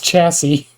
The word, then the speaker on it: chassis: It's chassis. But there's an S at the end.